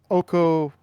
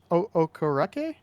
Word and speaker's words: Okereke: Bobby Okorake? Okereke. Okereke? Okay. Okereke.